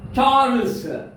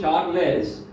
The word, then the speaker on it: Charles: Charles. Some people pronounce Charles, but correct pronunciation is Charles. Charles. So ending too much yes sound.